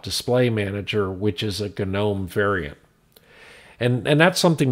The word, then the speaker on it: GNOME: gnome display manager and yes it really is pronounced gnome otherwise known as gdm